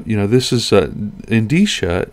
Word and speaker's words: Endicia: software so uh you know this is uh in d sha it's a e n d i it pronounced in d sha is a division of uh newell rubbermaid which